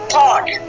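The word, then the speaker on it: thought: उसके बाद टी एच ओ यू जी एस टी, थॉट। उसके बाद एल ए यू जी एच, ठीक है, लॉक। तो यहाँ पे क्या साइलेंट है आपका?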